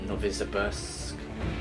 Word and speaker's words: Novosibirsk: So witness the story of the last year of life in Novosibirsk, that's how you say it, Metro through the eyes of Colonel Klebnikov.